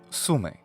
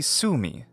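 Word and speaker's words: Sumy: for us places like sume we ought to say Su me but English doesn't end words with the vowel phoneme e so a more natural English rendition would be Sumi instead of sume now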